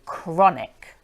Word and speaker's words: chronic: tricky normally when we see CH H it's pronounced CH like cheese but here it's C so chronic let's take a look at that one more